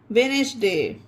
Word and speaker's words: Wednesday: Handsome, sandwich, bridge, gadget, budget, pledge, वेडनेसडे।